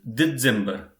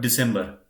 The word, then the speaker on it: Dezember: So likewise here, in December, it is Dezember, not December.